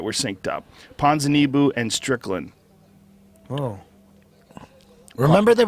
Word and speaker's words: Ponzinibbio: Ponzinibbio. Ponzinibbio.